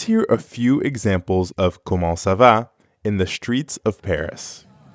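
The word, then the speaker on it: comment ça va: means how Kumon Kumo Kumo ends in the nasal sound ah to pronounce that sound first say ah while dropping your job it at the same time try not to push air through your nose see if you can feel the difference between ah ah and all all ah now the whole word Kumon Kumo now you practice repeat after me MO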